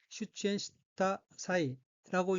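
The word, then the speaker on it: 出演した際: 넷째 줄 가운데 어귀는 한자가 한국어로 출연 및 제이며 각기 날출, 편련자 및 즈음제자로 되어 있고 일본어로는 슈치엔시타 사이라고 읽으며 슈치엔시타 사이는 출연하다는 뜻인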